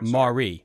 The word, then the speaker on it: Maury: the Mari you know it's actually pronounced the Mario Marie Marie okay a-u-r-y um it was uh